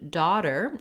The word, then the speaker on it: daughter: The second part of daughter, the letter T, is a flap in this word, so it sounds more like a D. I've rewritten it here for you with the letter D.